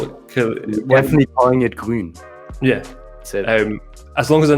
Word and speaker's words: Grün: Grün. So how'd you spell it?